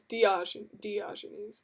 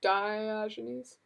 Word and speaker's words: Diogenes: delicious burritos are good Diogenes is that how you say it really did you look it up Diogenes Club see I thought was di di jeans but Diogenes Club I think yeah I think there was